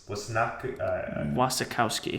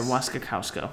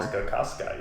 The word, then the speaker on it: Wasikowska: It has Tom Hiddleston in it, Jessica Chastain, Charlie Hunnam, Mia Wasikowski. Wasikowski. Yes. Or Wasikowska, whatever. Wasikowska, yes. I can't pronounce it.